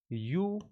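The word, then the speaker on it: university: इस वर्ड को जब पढ़ा जाता है, इसको प्रोनाउंस किया जाता है, इसका प्रोनाउंसिएशन किस तरीके से निकलता है, यूनिवर्सिटी, ठीक है ना। ये इसका क्या होता है, प्रोनाउंसिएशन होता है। तो यू, ये इंग्लिश में अगर आप साउंड देखते हो तो भी वाई से निकल रहा है, कॉन्सोनेंट वाला साउंड है।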